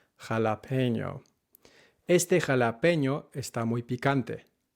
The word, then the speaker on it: jalapeño: This word is pronounced jalapeño, not jalapeno. Jalapeño, not jalapeño. Este jalapeño está muy picante, not este jalapeño.